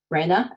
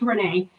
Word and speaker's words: Renee: it's pronounced Renee. Nobody ever gets it.